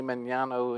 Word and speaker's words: Magnano: It's actually Magnano. And okay, so the way my dad, so the G was silent, but I wasn't raised that way, so we pronounced the G, so either way.